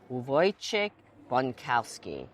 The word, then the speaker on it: Wojciech Bonkowski: I have next to me our next guest and a master of wine with the name impossible to pronounce. Wait a minute. Let me try. Uvoy chickowski.